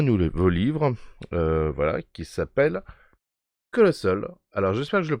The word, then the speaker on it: Colostle: livre voilà qui s'appelle colossol alors j'espère que je le prononce bien je pense le prononcer correctement par rapport à la comment dire la version un peu anglaise peut colossol comme Castle voilà donc j'expliquerai peut-être